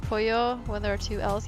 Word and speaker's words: pollo: Is it really pronounced pollo when there are two L's? Yes, in Spanish they have an actual letter that is double L. And it's pronounced y.